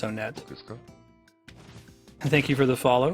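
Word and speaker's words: Onett: He said it was Want, Tucson, Threed, Four Sides. For a long time I bought it, and I was like, okay, fine, I'll pronounce it Want. But I think that the consensus is that it's Onet.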